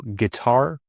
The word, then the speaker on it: guitar: Silent U often comes after G and before E. For example, guess, maybe also before I. For example, guitar or guilty. Guess, guitar, guest, guilty.